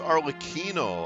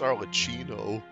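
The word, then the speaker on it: Arlecchino: defending our homeland oh it's pronounced as arino I thought it was arino to us orphans the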